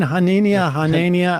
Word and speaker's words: Hanania: Yeah, I tried to draw a parallel between his last name, Hanania. Am I saying that wrong? Nazinia. I always thought it was Hanania, but... I mean, Hanania. Like inane.